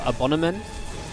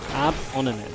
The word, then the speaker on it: Abonnement: It is pronounced French. It's a French loanword.